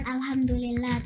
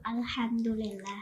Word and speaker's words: Alhamdulillah: Kalau aku itu ingatnya cara baca Al-Fatihah tuh awalnya tuh bukan Alhamdulillah, tapi lebih ditekenin lagi jadi Alhamdulillah.